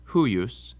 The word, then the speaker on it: huius: Also, when the I is in between two other vowels later on in the word, it acts like a consonant too. So it's huius and peor.